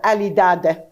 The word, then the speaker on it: alidada: but now it's called alidada. They pronounce, because al-addada becomes alidada.